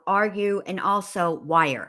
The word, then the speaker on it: Weier: are you and also wire her last name is pronounced wire I don't know why